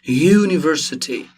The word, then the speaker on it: university: if you pronounce university university all right you'll see that we pronounce it with consonant at the front university it's not u